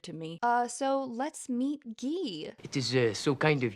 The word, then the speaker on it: Guy: It's spelled like guy, but it's pronounced Guy.